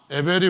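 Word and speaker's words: הבל: 사전에 보시면은 그렇게 되어 있는데 이 허무라고 하는 에벨이라고 하는 히브리 발음으로 하면 헤벨이라고 하는 이 단어가 쓰여져 있는 성경, 구약 성경 아주 중요한 성경이 있는데요. 혹시 여러분 아십니까? 모르시죠? 그러니까 오늘 이 말씀을 들으시면서 에벨이 우리에게는 어떤 의미를 주는가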